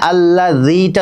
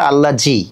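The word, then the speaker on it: الذي: এখানে আল্লাযীটা নরম করে বলবেন। অনেকেই বলে আল্লাহজি, আল্লাহজি কিন্তু ভুল উচ্চারণ।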